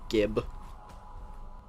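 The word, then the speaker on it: GIF: I like gib. Anyway. Pronounced Jif.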